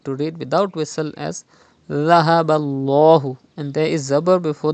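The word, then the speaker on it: ذهب الله: Dhahaballahu. You have to pronounce Dhal without whistle. Do not read Zahaballahu. You have to read without whistle as Dhahaballahu.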